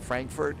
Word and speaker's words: Frankfurt: I don't think you roll your R on that. Frankfurt and send it.